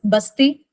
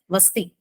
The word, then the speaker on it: Vasti: pronounced in two ways in northern part we used to tell it is basti and in Kerala we used to tell it as vasti okay but the meaning